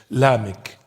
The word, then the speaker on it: Lamech: When you read in the book of Genesis, there is one called Lamech. That's in the Hebrew Aramaic pronunciation. Lamech.